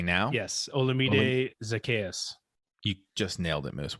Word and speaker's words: Olamide Zacchaeus: Yes, Olamide Zacchaeus.